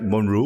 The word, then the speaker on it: Monroe: Did I pronounce it right? Monroe?